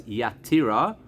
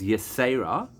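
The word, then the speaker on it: יתירה: They punctuated over here as Yatira. We, I think, pronounce it more as Yesera.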